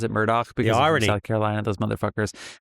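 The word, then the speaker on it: Murdaugh: No, this is um It's actually spelled Murdoch, A U G H, but they pronounce it Murdoch because South Carolina, those motherfuckers.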